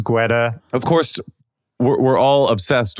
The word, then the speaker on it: Guetta: Guetta? I always say Guetta, but I don't, probably the correct pronunciation is Guetta.